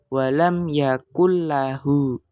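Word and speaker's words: لم يكن له: tasjid atau doble sehingga nunnya ini tidak perlu dibaca langsung masuk ke lam langsung yaakulla ya namun panjang harakatnya itu tidak didengungkan ya artinya cukup dengan satu harakat rakat saja.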